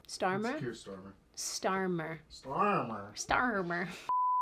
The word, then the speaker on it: Starmer: In the UK's case, when England's Prime Minister Kier Starmer, which I feel like I'm saying incorrectly, you're saying it right. Starmer, Kier Starmer.